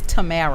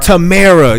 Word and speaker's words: Tamara: It's Tamara. Tamara.